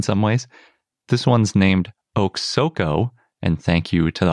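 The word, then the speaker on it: Oksoko: and mysterious in some ways this one's named oak soco and thank you to the authors for giving me a pronunciation guide i really appreciate that it's actually a pretty easy dinosaur name too oksoco the name comes from quote the three-headed eagle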